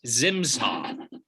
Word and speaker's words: Zimsaw: How do you pronounce it? It's Zimsaw.